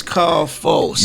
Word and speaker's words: K.A.L.F.O.: your name man man my name is carl folks yeah i always have to repronounce that for people okay yeah on me